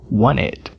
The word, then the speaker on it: wanted: letra na palav Wanted a letra T não é pronunciada Wanted Wanted o t em